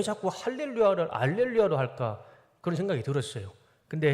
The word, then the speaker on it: 알렐루야: 그런데 그 라틴어에는 히읗 발음이 없다고 합니다. 그래서 할 못하고 할자를 알로 발음하게 된 겁니다. 그래서 제가 확실하진 않지만 그 카톨릭에서는 라틴어 성경을 정경으로 보기 때문에 할렐루야라고 하지 않고 알렐루야라고 한답니다.